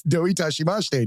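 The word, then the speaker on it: どういたしまして: And the way they teach you to say it is "don't touch my mustache." So it's "doi tashimashite," don't touch my mustache.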